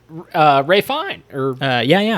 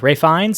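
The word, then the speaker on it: Ralph Fiennes: Dude, and this film has Ray Fine. Ray Fiennes. And Ray Fine? How do you pronounce Yeah, that Ray Fiennes.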